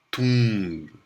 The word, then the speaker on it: tomb: A primeira se pronuncia bomb, e a segunda, que tem uma grafia muito parecida, se pronuncia tomb. Né? Então, bomb e tomb. Grafias quase idênticas, pronúncias completamente diferentes.